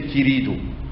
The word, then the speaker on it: querido: was born in Sarajevo, the Judeo-Spanish is pronounced the Portuguese way. Consequently, you have that every inaccentuated E becomes E. You have that every inaccentuated O becomes O. So instead of querido, you would say querido.